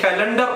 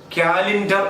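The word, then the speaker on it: calendar: അത് കലണ്ടർ അല്ല, കാലിൻഡർ എന്നാണ്.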